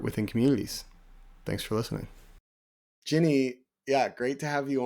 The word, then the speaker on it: Jinnie: And my name is Jinnie, rhymes with Minnie, and the work that I'm in right now is this wonderful intersection between mental health, faith, and art.